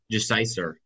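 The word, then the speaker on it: Gesiycer: How do you pronounce that? Jeciser.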